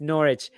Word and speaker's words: Norwich: address that comment guys it's pronounced norwich yeah we've tried telling mark that he refuses absolutely you can try you're gonna have i'm gonna have a sandwich in norwich and especially a sandwich